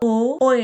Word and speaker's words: твой: ट्वॉय (t-v-o-y) ट्वॉय, 'आपका'।